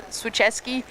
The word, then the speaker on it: Swicheski: We just got correction on this pronunciation of the surname, so it's Swicheski.